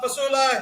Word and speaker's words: Fasula: learning from them and today we have Ramona fasola Health natural health expert author certified holistic health